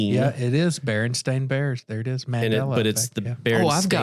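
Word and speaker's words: Berenstain: Uh the another another good one is the Baronstein Bears. Okay. I remember the books. It's the Baron Stain Bears. It's an A, not an E, but everyone remembers it with an E.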